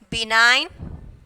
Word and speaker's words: benign: So next silent letter is G. Sign, benign, PHLE, pelham. Okay, pelham. So G is silent here.